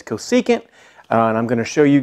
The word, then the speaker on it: cosecant: to show you and this is how you say it cosecant so it's not the Coase aunt it's not the cosine has to go seek it now there is a